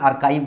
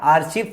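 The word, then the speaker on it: archive: लेखा गार बोलते हैं आर्काइव बोलते हैं आर्काइव ए आर सी एच आर आई आर काइ इसके प्रोनंसिएशन में भी बहुत दिक्कत होता है आर चव पढ़ता था मैं 2000 मतलब मैं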